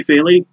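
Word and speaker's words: Fili: Anyway, first fight, prelim card, Andre Touchy Feely. I just love his nickname so much, Touchy Feely, just makes me laugh. Well, Feely is his actual surname, spelled F-I-L-I.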